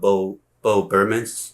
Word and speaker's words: Bo Burnham: And this is I don't know if you guys know Bo Burnham. That's how it's pronounced.